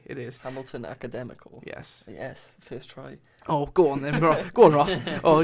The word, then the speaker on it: Hamilton Academical: Academical that is how to say it is Hamilton Academical yes yes oh gosh oh could be Scottish